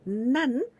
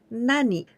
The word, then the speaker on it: 何: We use the pronunciation nan only in those two rules. The first one was DNT, des no to. And the second one is counter words. And all the others, we use the pronunciation of nani.